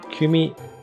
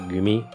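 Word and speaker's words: 組: find it first uh kumi is like a group of people um in this case you pronounce it gumi because it comes after an existing word so and then the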